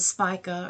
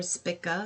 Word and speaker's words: Spica: Now, also, that's something interesting is that the stars Arcturus and Spica, or Spica, as some people like to pronounce it, are located on this degree as well, and they are associated with success, protection, and goodness.